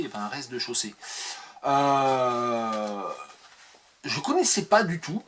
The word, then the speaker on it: rez-de-chaussée: L'éternité de Jean de Marc-Émile Tinet, ou Tinez, je sais pas, avec les EZ finaux, on ne sait jamais, normalement on les prononce pas, on dit un rez-de-chaussée et pas un rez-de-chaussée.